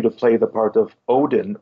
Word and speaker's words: Odin: play the part of Odin well Udin they pronounce it it showed uh won